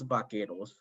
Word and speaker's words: vaqueros: They could not actually pronounce vaqueros, so they pronounced it in a very anglicized version, and they call it buckaroos, right?